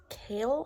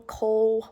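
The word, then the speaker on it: Chaol: the Guard which is kale I think is how you pronounce his name kale Cole however you say it um and I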